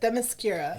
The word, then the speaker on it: Themyscira: Themyscira. Okay. Yeah. Yes. That one I do know how to pronounce properly.